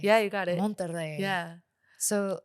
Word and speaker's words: Monterrey: Monterrey. Monterrey. Yeah, you got it. Monterrey.